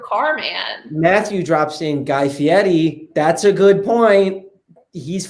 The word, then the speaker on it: Guy Fieri: It's Guy Fieri. It's not Fieri.